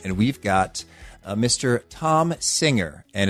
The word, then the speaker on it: Thom: we've got uh Mr Tom singer and it's not pronounced th singer even though he spells his name with an H and I met Tom